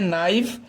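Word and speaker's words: knife: इसके बाद है नाइफ। नाइफ मीन्स होता है चाकू। यहाँ पर हम क्या करते हैं, के को साइलेंट कर देते हैं और NIF यानी कि नाइफ को ही सिर्फ उच्चारित करते हैं।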